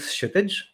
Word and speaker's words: Kshitij: My name is Kshitij. For those wondering, the K is silent and the T is soft.